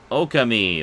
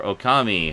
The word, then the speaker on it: Okami: And then last, but absolutely not least, we have Okami, or Okami, however you want to pronounce it.